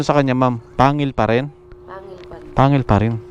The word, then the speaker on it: Pangil: Opo tapos po sa parking parking anong tamang pronunciation sa kanya Ma'am Pangil pa rin Pangil pa rin Pangil pa rin